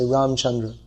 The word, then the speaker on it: Ramachandra: Even if they say Ramachandra, they won't say Ramachandra, they say Ramchandra. It's a common name. So it's you could say it's a linguistic practice that people have to drop the last vowel. If the last syllable is a vowel in most Sanskrit words that are spoken in, when they're spoken in Hindi, in almost all cases it's dropped.